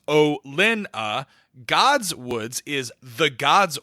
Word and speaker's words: Olenna: Olenna is pronounced O-Lin-A.